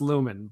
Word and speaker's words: Lumen: But it turns out it's Lumen, where on the show it ends in O-N. The field ends in E-N. But I think they're both pronounced Lumen, but it's just that slight change.